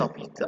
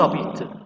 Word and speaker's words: habitent: برضه هنا الفيرب بدأ ب h muet يعني h زي الفويل بالظبط فهنحط قبلها n apostrophe. يبقى ils habitent à Paris هتبقى ils n'habitent pas à Paris.